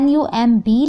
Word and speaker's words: numb: ध्यान दीजिएगा, स्पेलिंग है NUMB, लेकिन यहाँ पर B साइलेंट है तो आप बोलेंगे numb.